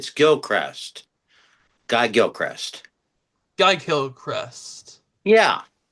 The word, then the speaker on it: Gilchrist: It's actually pronounced Cameron. It's Gilchrist.